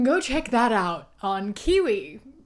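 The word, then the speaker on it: Qiwa: So if you want to hear a few of my thoughts about it, go check that out on Kiwi. Spelled with a Q. Q-I-W-A.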